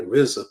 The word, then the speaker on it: RZA: And Prince Rakeem became the RZA, pronounced R-Z-A.